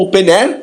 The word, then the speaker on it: openEHR: 2073 de 2011, são o OpenEHR, ou OpenAir, como muitos pronunciam.